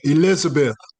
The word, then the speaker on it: Elizabeth: So Eliza Beth, am I saying that correctly? Eliza? Muted. There we go. Elizabeth. Elizabeth, even though it's spelled differently. Yeah, it's spelled with an S instead of a Z.